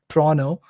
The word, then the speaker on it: Toronto: Toronto people pronounce it as Toronto.